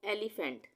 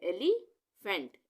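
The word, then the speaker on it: elephant: जैसे यहाँ पर है एलिफेंट, यहाँ ई से शुरू हो रहा है ना, इसके बाद ई के साथ ई के बाद LEPHANT है, तो यहाँ पे हम इसको क्या पढ़ना है, एली, यहाँ पे ए का उच्चारण आ गया, यहाँ पे ई का उच्चारण आ गया, एलिफेंट, एलिफेंट।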